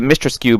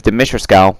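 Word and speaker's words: Dimitrescu: we've been saying to mr skew but her name is dimitriskal we've been saying it wrong this whole freaking time um every character design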